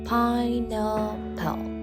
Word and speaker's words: pineapple: syllabus ကိုလည်းထည့်စဉ်းစားဖို့လိုပါတယ်ဥပမာ pineapple ပေါ့နော်အဲ့တော့ pineapple မှာ syllable ဘယ်နှခုပါမယ်ထင်ပါတယ်လေဟုတ်ပါတယ်၃ခုပါ pineapple ဆိုပြီးတော့ syllables ၃ခုပါပါတယ် stretch syllable အတန်ဖိရမယ့်နေရာကတော့ကျမတို့ first syllable pie